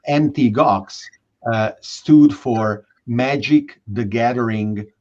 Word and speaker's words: Mt. Gox: As an illustration of your point, that the gamers flocked to Bitcoin, Mt. Gox, which is not Mount Gox as some mistakenly pronounce it, was one of the first Bitcoin exchanges, then famously went bankrupt.